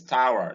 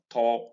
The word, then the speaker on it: tower: in tower this is tower not tor not tor many nigerians say torah for this word this is not torah this is tower correctly and in power it occurs